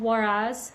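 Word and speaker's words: Huaraz: In Peru, um, I was in a small town in the mountains and called Waraz, spelled with an H.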